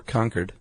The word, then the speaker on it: Concord: She is of Concord, New Hampshire or Conquered.